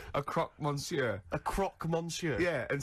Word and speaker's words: croque monsieur: no it's a croque monsieur so it's a croc monsieur a croc monsieur yeah and so i got